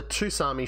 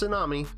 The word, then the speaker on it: Tsunami: At the theatre, we've got the Toosarmi shotgun. Yes, I know it's pronounced tsunami, and I always have.